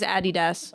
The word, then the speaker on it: Adidas: And if you said Adidas, Wait, how did you know he said Adidas though? Because what they British people say. say, and German. Really? The Yeah. proper pronunciation of it is Adidas.